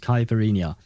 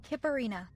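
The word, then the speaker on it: Kiperina: That's very different from what we're used to. Kippirina. Very well. I shall call her the way it is supposed to be pronounced in game.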